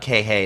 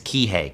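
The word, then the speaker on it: Kīhei: By the way, it's not kihei, it's kihei. Kihei, Kihei, Kihei. I know I pronounced it wrong in that video.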